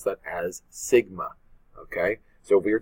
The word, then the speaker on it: sigma: And again, for a population standard deviation, that's what it's listed as, and we pronounce that as sigma.